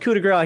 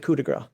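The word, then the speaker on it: coup de grâce: But I know in English we do pronounce it coup de grace, or American English.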